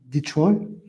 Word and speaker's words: Detroit: Vous avez la ville en anglais, donc en anglais américain, donc prononciation Detroit.